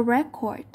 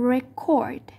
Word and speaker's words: record: Verb are usually stressed on the second syllables. Động từ thì thường thường sẽ được đánh trọng âm vào âm thứ hai. Ví dụ, to record. To record.